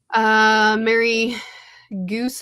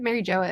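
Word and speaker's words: Mary Geoise: Mary Goose, how do you say that? Mary Joa is how it's. Yeah, that's how I know it as.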